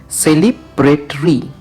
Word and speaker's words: celebratory: আচ্ছা, এই শব্দটার উচ্চারণ হচ্ছে সেলিব্রেটরি, ঠিক আছে?